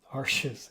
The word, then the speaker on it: Arches: faster drawing paper uh Ares yeah how do you say that it's Arch I'm pretty sure it's Arch it's French right uh anyway working with